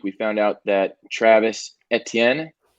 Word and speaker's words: Etienne: found out that travis etienne that's the the french pronunciation etienne i know some people say etn um he's out for